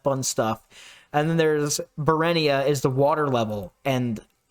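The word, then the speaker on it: Burenia: Bruina? It's Berenia.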